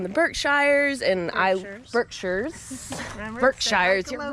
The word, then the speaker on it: Berkshires: showed us around the berkshires and i berkshires berkshires you're right say it like a local the